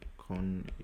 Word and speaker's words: Konjugation: So it's called verb conjugation, or in German Konjugation, you can say Konjugation, since you remember, right? J, which is yacht, pronounced as year.